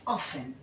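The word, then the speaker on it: often: देखिए एक वर्ड होता है ऑफेन है ना क्या इसको हम ऑफेन पढ़ते हैं नहीं इसको हम क्या पढ़ते हैं ऑफेन ठीक किस तरह से लिखेंगे ऑफेन है ना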